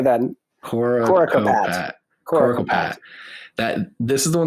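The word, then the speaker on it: Coricopat: Coracopat.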